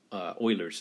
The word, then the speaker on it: Euler: maybe maybe it's like okay so it's it's Euler's number but it's actually pronounced like the former at Houston Oilers the Euler's number okay was named off of a famous